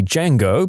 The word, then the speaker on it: Django: I looked at her and said, the D is silent.